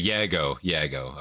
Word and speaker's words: Jago: Like how do you pronounce it? You know? Yeah, it's okay. Yago.